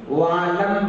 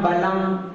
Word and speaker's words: वालं: अब ध्यान देना थोड़ा, चौथी लाइन में व्यक्ति क्या करते हैं, वालम बलम ना के स्थान पर ला का उच्चारण कर देते हैं, उनको बलम बलम ज्यादा याद आ जाता है। तो कोई बोलते हैं बालम बनम, तो बालम भी नहीं है और बलम भी नहीं